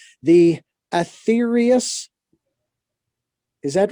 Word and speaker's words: Aetherius: And if I have the correct pronunciation, the Aetherius, is that right? Yeah, Aetherius Society, yeah. Aetherius.